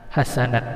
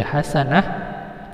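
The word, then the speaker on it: حسنة: Hasanat dibaca hasanah, wasi'at dibaca menjadi wasi'ah.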